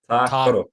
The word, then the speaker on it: Tākaro: So it's the first A has like a double A, like Ta Karo. Tākaro.